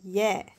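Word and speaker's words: ياء: Alors le W, quand vous voyez W, c'est la prononciation de wow. Et le dernier alphabet qui est le ya.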